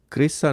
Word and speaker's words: Chryse: سے صرف چند ہفتے قبل کیے گئے تھے۔ کریسا is spelled CHRYSE کریسا۔ وائکنگ 2 کے لیے مجوزہ